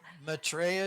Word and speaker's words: Maitreya: Maitreya? Maitreya is perfect. That's exactly how it's pronounced.